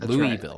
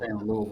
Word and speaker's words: Louisville: a local or not it's not Louisville Louisville it's not certainly not Louisville Louisville that's how you say it right uh so